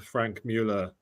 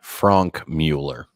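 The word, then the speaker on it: Franck Muller: Is he saying that Richard Mille will be the Frank Mille in 10 years' time? Please pronounce it correctly. Frank Mueller.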